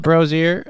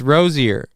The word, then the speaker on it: Rozier: I think it was Frozier, not Brozier. I don't think it was Brozier. Maybe it was Brozier. I don't know how to pronounce that name right. No, it's Rozier.